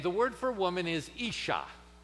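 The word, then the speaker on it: אִשָּׁה: word for woman is isha ish is the first syllable and shah is the second syllable the sh is a single letter in the hebrew and it's doubled isha i want you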